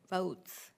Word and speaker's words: Voatz: I think it's pronounced votes. Okay, the No, it's VOTES spelled program for oddly.